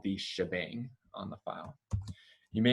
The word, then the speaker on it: shebang: shebang it's called the shebang because the hashtag is where the sh comes from and the exclamation point is often pronounced bang so bang shebang for